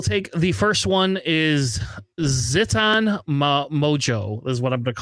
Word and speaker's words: Ziton Moj: Um I will take the first one is Ziton Mojo is what I'm going to call him because I have no idea how to pronounce that name. What is his name? JJ Zeton Maj.